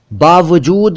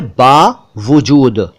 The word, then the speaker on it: बावजूद: इसके बाद बावजूद भी, बावजूद भी, ये ठीक नहीं है। असल में होना चाहिए बावजूद। बा एक शब्द हुआ, वजूद दूसरा शब्द हुआ, इनको जोड़ दीजिए तो बना बावजूद।